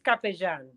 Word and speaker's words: Capellan: So correctly, it's Capellan. Capellan. Capellan. So you will pronounce it like if the two L's were a J.